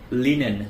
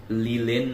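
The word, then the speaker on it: linen: লিনেন যেটা হচ্ছে এক ধরনের ন্যাচারাল ফাইবার। এটা ফ্লেক্স প্লান্ট থেকে পাওয়া যায়। অনেকেই আছে এটাকে লিলেন উচ্চারণ করে থাকে।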